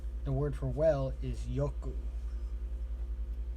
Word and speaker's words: yoku: The word for well is yoku. Yoku. So ku, yo, yoku.